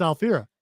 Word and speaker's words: Alfira: my favorite NPC it's fi alier see that's that's why that's why yeah I always get her name wrong I don't know why I call her Fiona it is alfira though you're right because I